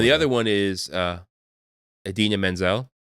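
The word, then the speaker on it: Idina Menzel: other one is uh Adena Menzel or Adel daim as as John travolto famously called her she was the voice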